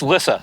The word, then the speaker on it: Lissa: Her first name is not Lisa, it's Lissa.